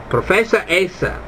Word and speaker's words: professoressa: again, lei è la professoressa. Lei è la professoressa. Gotta watch that E. That E sounds like an A and it's hard to pronounce.